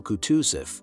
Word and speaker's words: Kutuzov: "General Kutuzov," said Bolkonsky, speaking French and stressing the last syllable of the general's name like a Frenchman, "has been pleased to take me as an aide-de-camp."